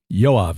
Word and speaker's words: Yoav: patriarch but it's uh the same name as yav Galant the current defense minister of Israel that's the name yav j OAB B yoav is how you pronounce it yav spells his phonetically y o